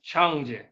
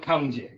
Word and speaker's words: Cangjie: And the most important things here is that it's pronounced as Chang with a a little bit of the TS sound. Definitely not KJ.